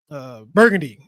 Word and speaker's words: Burgundy: Austria and the dukes of how do you pronounce that? Burgundy.